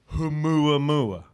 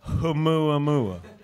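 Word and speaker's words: ʻOumuamua: So remember Oumuamua. Say that once again, Matt. Oumuamua. I love that you pronounce the H.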